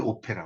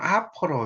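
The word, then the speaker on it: opera: 혼자 하는 오페라. 오페라는 영어로 이제 쓸 때는 오페라라고 쓰지만 이 발음을 할 때는 아퍼라 이렇게 읽어요. 오페라 이렇게 읽으면 콩글리시입니다.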